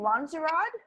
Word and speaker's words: Lonzorod: How do you say your name? Lanzarote? Yeah, that's me.